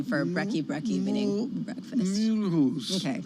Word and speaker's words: Mulhouse: Mulhouse. Okay. You don't say the H in French, Tom. Mulhouse.